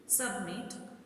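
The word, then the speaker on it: submit: सबमिट, stress falls on the last syllable meet.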